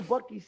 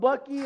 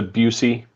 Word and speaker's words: Buc-ee's: Have you seen the viral video of the guy that pronounces it intentionally, it's a Busey.